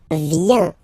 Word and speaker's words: vient: Okay, then il, elle, vient. Final T not pronounced.